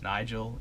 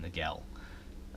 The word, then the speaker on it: Nigel: nice piece for Aaron I need to apologize to you it's Nigel Aaron Nigel Smith where I mispronounced that